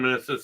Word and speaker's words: meniscus: Meniscus. Yeah. Rhymes with kiss.